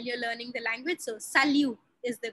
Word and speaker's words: salut: How do we pronounce salut? Salut no T.